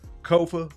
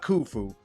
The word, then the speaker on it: Kofa: Once again, I am your humble host, your favorite YouTuber's favorite YouTuber, Kofa, Ko Fa, not, not Kufu, not Kofi, or any variation thereof. Kofa rhymes with sofa.